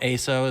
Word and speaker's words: AYSO: We have a organization called a AYSO. ASO is sort of the how you say it.